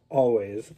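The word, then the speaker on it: Alvvays: I actually ordered this off the Bandcamp website, and this is the band Always, spelled with 2 V's.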